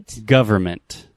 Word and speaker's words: government: this with an N we write this word g o v e r n m e n t but we do not pronounce that so repeat with me